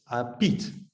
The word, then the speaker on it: Piet: Hopefully that's a correct pronunciation. I'm not too sure. Is Piet correct? No, it's Piet.